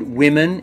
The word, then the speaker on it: women: word is women now when you look at the word women it looks like it should be read woman but it isn't now women is the